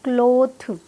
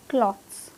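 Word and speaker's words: clothes: तो इंग्लिश में क्या होता है, थ का साउंड होता ही नहीं है, तो कैसे प्रोनाउंस करेंगे इसे, क्लॉथ्स, क्लॉथ्स, नॉट क्लोथ, क्लॉथ्स, द और ज का साउंड आएगा पीछे, क्लॉथ्स, क्लॉथ्स।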